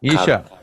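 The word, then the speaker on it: Isha Kriya: check out this and let me make sure I'm saying it right he she cut Isha i-s-h-a k-r-i-y-a okay yeah thank you for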